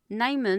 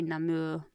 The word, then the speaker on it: Namur: Non is actually Namur on the signs. So if you look at it on the map it's going to be Non. I can't pronounce it right but it's they say Namur out and about.